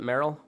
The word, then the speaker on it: Merrill: with Mr Merrill is that how you pronounce it Merill yes sir all right uh fellow podcaster Cowboy